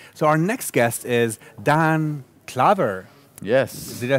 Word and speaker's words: Daan Klaver: So our next guest is Daan Klaver. Yes. Did I say that right? Pronounced it perfectly. Perfect. Wow. I'm almost sort of. It's Daan Klaver.